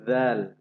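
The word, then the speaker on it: ذال: এরপর আছে জাল। জাল পাতলা আওয়াজ, একটা জিহ্বার আগার থেকে পাতলা আওয়াজ উচ্চারণ করতে হবে।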